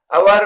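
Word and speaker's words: hour: अवर में S silent है और ओ वावेल साउंड, इसलिए अवर से पहले एन यूज होगा।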